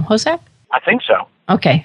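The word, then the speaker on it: Hossack: Hosak? I think so. Okay, it's not like Horshack from Welcome Back, Kotter.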